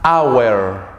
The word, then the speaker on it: hour: Por ejemplo, an hour. Aquí la H no tiene sonido.